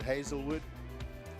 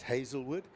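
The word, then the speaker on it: Hazlewood: That has the different spelling. That's just Hazel. So another way of spelling it, but both pronounced Hazelwood.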